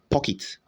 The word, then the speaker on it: pocket: The word is pronounced pocket. Pocket. Okay, not pocket, but pocket.